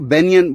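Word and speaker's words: banyan: Plural बनाने के लिखा बनिया ही, BANIYA, और फिर प्लूरल बनाने के सेंस में उन्होंने एन लगा दिया, बनिया। हाँ हाँ, तो उसको बेनियन वो प्रोनाउंसिएशन होगी, तो बेनियन ट्री नाम हो गया।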